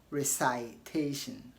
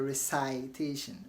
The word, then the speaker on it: recitation: And don't say recitation or pronunciation. Don't say the lieutenant paid attention to the pronunciation of words during the recitation. It is not recitation but recitation, and pronunciation, not pronunciation.